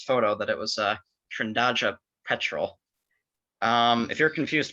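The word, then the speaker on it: Trindade: that it was uh trindaja petrol um if you're confused about the pronunciation uh everybody is so don't feel bad about that trandaja is the portuguese word for trinity and it's it's named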